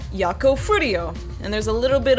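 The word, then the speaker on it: Yakou Furio: out it's actually pronounced yako fuo and there's a little bit of a there's a little bit of a roll to the r in fro so that's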